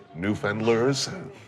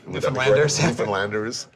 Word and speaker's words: Newfoundlanders: What's changed as far as the way that I'm going to try to pronounce it correctly, Newfendlers. Newfoundlanders uh see themselves.